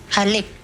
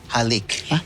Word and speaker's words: halik: How do you say kiss in Tagalik? Haleik. Halik. Okay.